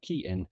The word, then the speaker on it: Cian: So if you need a way of remembering my name, think of a key in a door, Cian. That's how you say my name.